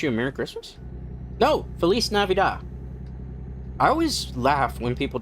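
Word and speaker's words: Feliz Navidad: Felis Navidida. I always laugh when people try to like pronounce Feliz Navidida cuz there's like Have you ever seen a white person try to pronounce it?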